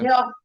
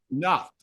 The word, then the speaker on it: Niort: Niort. J'ai pas l'accent québécois. Je sais pas. Niort. OK. Niort. Nord. C'est simple. C'est un T à la fin, ça fait Nord.